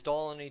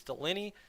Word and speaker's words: Dolynny: those of you just joining us here on dolany tv ahead of tonight's hockey game i'm this is doliney tv i say that wrong if anyone uh